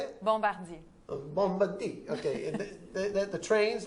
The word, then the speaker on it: Bombardier: Bombardier.